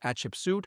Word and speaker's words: Hatshepsut: Ensuite, nous avons sa fille et son nom se prononce Hatshepsut et elle est de 1503 à 1482 avant Jésus-Christ.